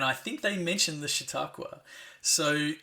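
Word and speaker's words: Chautauqua: the sort of laid out the written the pronunciation you nailed it shiaka hey now look I don't think I can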